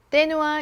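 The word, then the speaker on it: Thé Noir: 10번째 향수는 떼누아 29입니다. 영어로 읽는다면 더 누아르겠지만 프랑스어로는 떼누아라고 읽더라고요.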